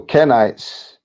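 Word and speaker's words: קיני: And if you look at it, you see that Kenite is pronounced Kenit in Hebrew.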